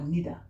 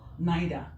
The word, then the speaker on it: neither: that is confusing neither so we don't call them ida or nida it's ida or naida so this one is